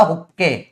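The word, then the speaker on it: Hooke: एक साइंटिस्ट है, उनका नाम था हुक्के, हुक्के, हुक बोलते हैं अंग्रेज, मैं हुक्के बोलता हूं क्योंकि स्पेलिंग से हुक्के सुनाई देता है मेरे को।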